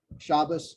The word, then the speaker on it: Shabbos: Like you might have heard some of the old school Jewish people go Shabbos, good Shabbos. That's because they're pronouncing this like an Ah instead of an Ah.